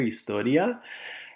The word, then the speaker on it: historia: de historia history class known as the h is silent there historia espanol best class of